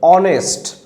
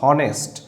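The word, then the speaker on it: honest: ঠিক একইভাবে অনেস্ট, যখন আমরা এই ধরনের কিছু শব্দ ব্যবহার করব, এইচ ও এন ই এস টি, অনেস্ট, অ থেকে শুরু, নট হনেস্ট, অনেস্ট। সো অ, অনেস্ট।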